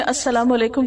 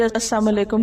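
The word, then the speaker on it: السلام عليكم: होते हैं बसा कात हम जल्दी में अस्सलाम अलेकुम कहने के बज अलाम अलेकुम कह देते लाम को प्रोनाउंस नहीं करते जबक अ साम का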